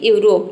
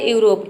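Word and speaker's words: Europe: का हो जाएगा प इ साइलेंट है देखिए किसी भी वर्ड के अंत में अगर इ आता है तो वहां पे ई लेटर साइलेंट रहता है क्योंकि वर्ड के अंत में आ रहा है इसलिए तो किसी भी वर्ड में अगर वर्ड के अंत में ई आता है तो आपको ई को प्रोनाउंस नहीं करना है ई को क्या करना है साइलेंट रखना है यह पूरा हो जाएगा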